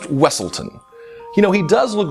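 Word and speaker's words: Weselton: bet you didn't guess it's the Duke of weaseltown from Frozen uh it's pronounced wesselton you know he does look very similar to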